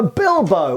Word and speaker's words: Bilbao: So the Bilbo or Bilbao, depending where you're from in Spain and how you pronounce it, as I understand it, the Basques say more like Bilbo and the other Spanish say more Bilbao.